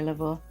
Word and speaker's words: Laveau: to pronounce it murray level marine level e-a-u-x is pretty much a uh like but like a o sound like bow uh boudreau tibito oh